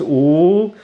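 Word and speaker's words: 五: more minutes in Chinese the number five is pronounced ooh and my mom would say come on get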